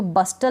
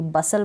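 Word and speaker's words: bustle: अब इस टी का नहीं होगा, जैसे कि मैं पढ़ूंगी इसको बस्टल नहीं पढ़ूंगी, बसल पढ़ूंगी, इसको हस्टल नहीं पढ़ूंगी, हसल पढ़ूंगी, यानी टी इसमें साइलेंट है।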